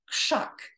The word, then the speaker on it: Krzak: and then we have Max's last name which is pronounced shock because of the beginning unvoiced phoneme k then we have my